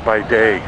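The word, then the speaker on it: Bygdøy: One of the places I want to go is, I think they call it Bidoy, but it's spelled B-Y-G-D-O-Y.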